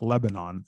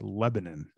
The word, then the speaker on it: Lebanon: out of lebanon indiana it's not lebanon it's lebanon um i had an